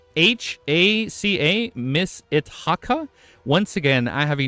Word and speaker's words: Itaka: 27th September, I saw Miss It, how do you pronounce his name? Miss it t a ca Miss Itaka.